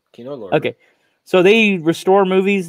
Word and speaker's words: Kino Lorber: Kino Lorber.